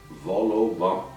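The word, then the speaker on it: vol-au-vent: Notice that we don't pronounce the T at the end of vent. Vol au vent.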